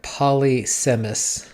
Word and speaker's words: polysemous: The word looks like polysemous, but it's pronounced polysemous.